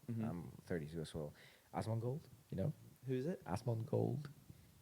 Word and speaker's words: Asmongold: Asmongold, you know? Who's it? Asmongold. Has Asmongold. Asmogold. Yeah, How do you spell it? Asmon, like Asmon. Osmond. OSMOND. OSMOND. OND, and then gold. Osmond Gold. Asmongold.